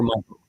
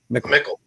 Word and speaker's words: Mickel: Is it Mickel? Mickel or Michael? Mickel. Yeah.